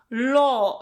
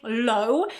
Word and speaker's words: law: A lot of people say low, but remember, if you say low, it's gonna mean nisko. And you want to say, I studied law, prawo, okay? So again, this w is not pronounced here.